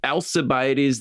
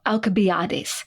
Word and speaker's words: Alcibiades: aoft SE alabes and in Greek that would actually have been represented by the letter Kappa which is the letter K which is just the hard C sound so alabad now the thing is